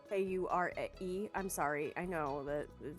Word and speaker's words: Kure: Kura? K-U-R-E.